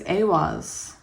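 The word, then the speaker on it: Ehwaz: And this book tells me how to pronounce them, which I am so thankful about. Yes. So we have, this is Awaz.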